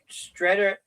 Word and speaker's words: Streator: He lives in, if I pronounce it right, Streator, Illinois. So Sterling, that's Illinois. from our good friend Dwight. It's Streator, Streator, Illinois.